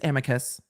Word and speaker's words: amicus: recipe Amica brief yet yes it's Amicus some people say Amici and there are other ways not like Avicii but there are other ways to pronounce it I always pronounce it Amicus um that's just how I pronounce it so this was